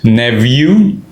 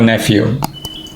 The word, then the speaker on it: nephew: son is our nephew not the pronunciation nephew some people also call it neew I prefer nephew similarly my son is